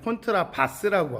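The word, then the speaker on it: Kontrabass: 원래 독일식 발음은 콘트라바스라고 하고요. 영어식 발음은 더블 베이스라고 합니다.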